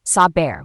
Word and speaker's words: saber: Between vowels it becomes softer, resembling a mix of B and V, known as the soft B or fricative B. Example, saber, which means to know.